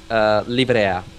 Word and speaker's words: Livrea: Liveria, I'll tell or you. what? I'll tell you in Italian. It's livrea. That's how it Okay. should be spelled.